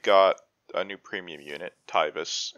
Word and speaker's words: Taivas: a new premium unit tybus is that how you pronounce it well i think like in jp he's tivos with a y so it would be tivas i don't know but taiva taivus i i don't care we can call him theodore uh looking at the jp enable exactly pronounced tyvis yeah okay sounds good